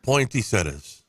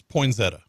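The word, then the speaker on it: poinsettia: Louisiana Point seta how what's the correct way of saying it pointy setas no you said it right there's no t in it it's poin Zetta well I added one there's two T's at the end yeah you're right but not in the Middle where he said it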